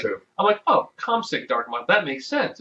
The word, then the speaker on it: Komsic: And we also have a English dark and mild ale called Cosmic Dark and Mild, spelled with a K. Yes, Paul That's his Komsic.